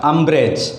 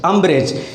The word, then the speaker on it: umbrage: तो इसको क्या पढ़ा जाएगा, अम्ब्रेज, अम्ब्रेज। क्योंकि यहाँ पर आपको ये भी ध्यान में रखना होगा कि इसका सही उच्चारण क्या होना चाहिए, अम्ब्रेज, मैलिग्निटी, शिग्रीन, ट्रैवल, ट्रिपिडेशन, रिवल्जन।